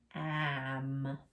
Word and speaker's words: lamb: And last one, lamb. Lamb. Lamb like a type of sheep, right? Curly hair, a lamb. Okay. So remember, MB. The B is silent. That's our ghost letter.